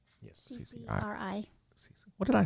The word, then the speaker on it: CCRI: And last thing before we get out of here, so the CCIR, did I say it right? Yes. CCRI.